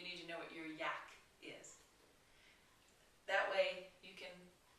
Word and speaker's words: UAC: something called your Yak your UAC pronounce Yak stands for Unique appeal